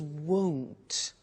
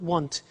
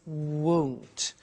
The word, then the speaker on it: won't: Now, the negative form we mentioned before, you heard me with the money, is won't. Be careful with the pronunciation. It's not want, it's won't.